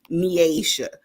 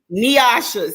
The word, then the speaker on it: Nyasha: So welcome to the show, Kenda and Nyasha. And I said it wrong. Didn't I say it wrong? Did I say it wrong? I know. Say it right for me, please. Nyasha.